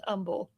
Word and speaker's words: Humble: Like, well, there's a town in Houston called it's it's spelled humble, but it's pronounced umble.